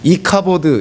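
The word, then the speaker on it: Ichabod: 하다 보니까 이 갑옷 이라고 했는데 히브리어로 반응하면 이카 버드 이렇게 이 발음이 되는 것이죠 카 버드 라는 말이 성경에서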